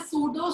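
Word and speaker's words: pseudo: लेकिन जो amorphous solid है वो होते हैं सूडो सॉलिड। यहाँ पे पी बेटा साइलेंट है।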